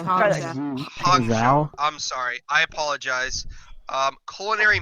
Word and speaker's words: Hangzhou: The Hanzu Bark is Void. That was all right. Can I say properly? It's Hongzhou. Hongzhou. Yeah, it's Hangzhou.